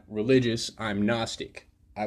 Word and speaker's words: gnostic: knowing I'm not agnostic I'm not religious I'm Gnostic I like to know luciferianism it's Gnosticism agnostic